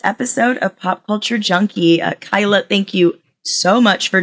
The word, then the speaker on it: Kaila: So, my name is Kyla Yu and it's spelled K A I L A.